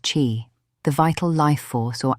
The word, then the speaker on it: qi: At its center is a concept called key, pronounced chi, the vital life force or animating energy that